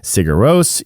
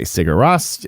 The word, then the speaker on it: Sigur Rós: in and i mean there's a lot of different pronunciations that we have those of us who are not icelandic you hear people say cigarose you hear people say siguras like ross from friends and i was just